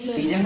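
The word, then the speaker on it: season: तो देखो यहाँ से यहाँ तक पढ़ रहे हैं सी, और इसको जन, सी जन। तो ए पढ़ रहे का, ए का उच्चारण हो रहा है कहीं?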